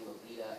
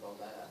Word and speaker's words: Lolita: Most girls that I have met in America, because it's spelled Lolita in the way of the American pronunciation, we all just say it the American way instead of altering it to be a different form, per se.